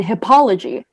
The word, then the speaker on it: hippology: The veterinary student decided that his major would be in hippology. There are no alternate pronunciations, just hippology.